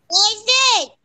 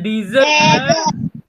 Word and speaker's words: desert: Okay, so the correct way to pronounce this is desert. Desert. Okay, repeat after me. Desert. Desert. Bukan dessert.